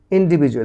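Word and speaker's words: individually: তারপর ছোট ছোট দলে এন্ড ইন্ডিভিজুয়ালি এবং ব্যক্তিগতভাবে বলো ইন্ডিভিজুয়ালি ইন্ডিভিজুয়াল এখানে ডির উচ্চারণটা জ হবে ইন্ডিভিজুয়ালি কারণ ডির উচ্চারণ মাঝে মাঝে জ হয় ইন্ডিভিজুয়ালি ইন্ডিভিজুয়ালি গুড মর্নিং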